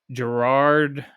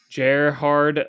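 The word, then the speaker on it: Gerhard: calendar appeared followed by Gerard no that's not how you say his name jard Lang's innovation of small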